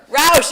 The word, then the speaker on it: Roush: Roush, I said it right.